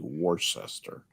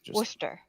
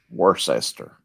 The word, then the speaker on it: Worcester: ladies gentlemen is phonetically worcestor Worcester yes pronounced blister Worcester just like Worcestershire um I think the